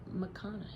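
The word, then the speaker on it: McConaghy: Uh, Wild Dark Shore by Charlotte McConn is how you say her last name.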